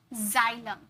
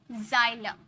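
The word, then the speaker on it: xylem: देखिए rule number second word के शुरू में अगर एक्स आ जाए तो उसे ज में प्रोनाउंस करते ज ज में प्रोनाउंस करोगे ओके ज नहीं ज जैसे जाइलम ज जाइलम जिनन एक्सरे यहां पर थोड़ा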